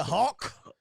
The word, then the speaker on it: Hawk: Love you, Hope. It sound like you said love you, ho. You gotta pronounce the K, dog. Love you, Hawk.